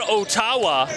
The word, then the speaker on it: Ottawa: pure butter from downtown Oh tawa that's how the locals say Ottawa and nor do I